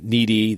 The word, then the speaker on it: Nnedi: So Needy, that's spelled Nnedi, Okorafor, Okaorafor.